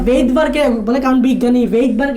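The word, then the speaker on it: Svedberg: হয়, ওনার নাম হচ্ছে ভেইটবার্গ। এখানে এমনি অ্যাকচুয়ালি এসটা উচ্চারণ হয় না, উচ্চারণ করার সময় এসটা উচ্চারণ হয় না, লেখার সময় এস লিখতে হবে।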